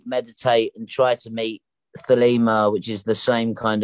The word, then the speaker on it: Thelema: It's got a thud at the beginning, like a lemma.